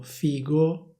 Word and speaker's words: figo: Alcune persone dicono figo, altre persone dicono fico. Poi c'è anche chi dice fijo, ma questa è un'altra storia. Diciamo che le varianti ufficiali sono due, una si scrive con la lettera G e l'altra si scrive con la lettera C.